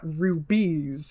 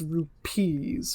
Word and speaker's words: rupees: the currency used is not rubies it's rupees with appeal which is which is spelled like the indian currency rupees but i say ruby